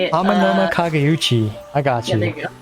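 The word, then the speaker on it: Amenoma Kageuchi: Amanoma Kageuchi.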